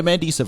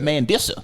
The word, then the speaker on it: Mandisa: you know what's crazy you pronounced it phonetically just so we can get it man this is the proper pronunciation but man this he gave you the mandissa so what was it